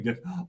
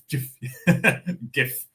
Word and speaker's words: GIF: GIF. Is it GIF or GIF? They pronounce it as GIF. Like George, I guess.